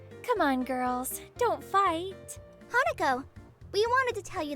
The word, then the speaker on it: Hanako: See you later, Hanako. That time you pronounced it correctly.